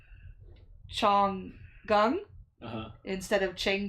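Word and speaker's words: Chang: Um because it's spelled uh like c h a n g, but it's pronounced chong.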